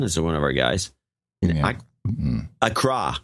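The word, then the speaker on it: Accra: one of our guys Acra it's not Acra by the way it's a CRA we've been pronouncing it wrong all these years oh I don't think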